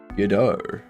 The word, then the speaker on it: Godot: How do you pronounce Godot? Godot.